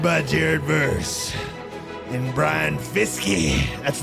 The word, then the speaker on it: Fiske: Jared ver and Brian fisky that's right I pronounce the e in Fisk braen fisky it's fisky my boy fisy I